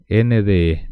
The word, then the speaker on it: nde: de arriba les voy a decir así de los dientes superiores y con la pronuncia hacer d d nde d d d ahí